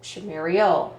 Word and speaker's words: Shumuriel: How do you, people like Shumuriel, nope, Shumuriel. It's like Muriel.